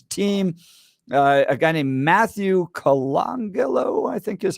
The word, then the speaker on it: Colangelo: A guy named Matthew Colangelo, I think is how you pronounce his last name. Colangelo, I think, yeah. Colangelo, and the right pointing out he's got a